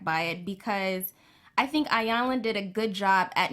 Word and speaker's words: Iyanla: So they felt very sensitive to Iyanla. Correct me if I'm saying it wrong. No, you said it right, Iyanla.